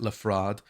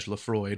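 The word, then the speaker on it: Le Froid: I think some people pronounce it Lefrade, like a French sort of pronunciation, but if you pronounce it Reg Lefroid, which you should, you get the hint that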